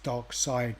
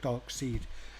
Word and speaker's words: Darkseid: ones um we're ranked i've always pronounced it as dark side black dark seed yeah i mean in in uk we always do i believe dark side but i've heard a lot of americans um and reviews say dark seed